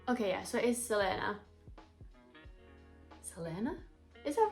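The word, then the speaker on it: Celaena: main character I don't know how you actually pronounce the name let me look that up Selena San Selena San Selena I was thinking it was going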